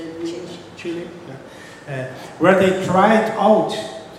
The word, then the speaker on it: Chile: Chile.